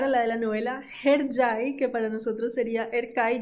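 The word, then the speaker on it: Hercai: Para nosotros Erkay, eso no se pronuncia así en turco se pronuncia Herjai.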